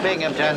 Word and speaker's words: Binghamton: That's a Binghamton. There's no P in that. The accent is on the Bing.